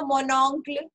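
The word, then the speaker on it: mon oncle: Jaise humne kiya tha mononcle, right?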